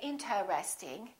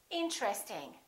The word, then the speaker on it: interesting: at a few more most people don't say interesting they say interesting interesting this tr are connected interesting look at this